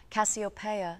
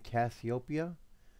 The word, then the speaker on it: Cassiopeia: Echoes through my Cosmos Copa and copia are two different soundings I mean do you recognize that do you recognize how you say it Copa and I'm saying copia do you see the difference or hear the difference like you can't see